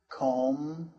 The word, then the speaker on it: comb: For example, climb, comb, thumb, and bomb. The B is silent there.